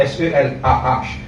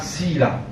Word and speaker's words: Selah: vous trouvez écrit Selah, S-E-L-A-H, qui est prononcé pas Selah, Sila. Ok?